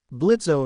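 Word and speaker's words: Blitzø: Blitzo is leaving. Isizuku Pansando. Oh, it's getting bad. Blitz growl. The O is silent.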